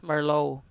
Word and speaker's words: Merlot: you type merlot please merlot merlot merlot merlot merlot merlot is the proper pronunciation merlot merlot merlot merlot merlot merlot merlot